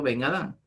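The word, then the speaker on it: בֶּן אָדָם: La palabra hebrea hijo de hombre es la palabra Ben Adán. Se le pronuncia en hebreo Ben Adán.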